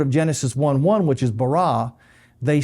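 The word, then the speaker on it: ברא: They pronounce it as bara.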